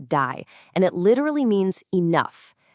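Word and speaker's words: די: According to this really ancient teaching, as the universe was just expanding and expanding, a voice declared die, which is pronounced die, and it literally means enough.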